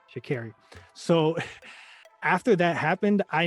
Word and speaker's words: Sha'Carri: after the whole, and I think I said her name wrong at the beginning. I said Sha'Carri. It's Sha'Carri? Yes. Sha'Carri.